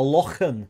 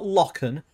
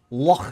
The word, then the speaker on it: lochan: And he was like, it's not a river and it's not a loch. It's a loch. A lochan, he said. You can't say it's not. He goes, not lochan, lochan.